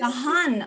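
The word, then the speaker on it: Dahn: Colleen has been training in Dan. I think that's how you say it, Dan? Hatha. Dahan yoga is Dahan, okay.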